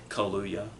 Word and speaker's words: Kaluuya: Kaluuya. Daniel Kaluuya. Kaluuya. Exactly like it looks.